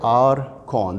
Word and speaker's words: Arcon: the archon articulator with the word r con there are two syllables a r r con c o n con r for articulator con for condyle so this means that this